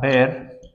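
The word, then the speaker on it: Baeyer: इस रिएक्शन, इसका एग्जांपल है बी ए ई वाई ई आर बेयर विलिगर, इसको यू प्रोनाउंस करें, जर नहीं है, सही है।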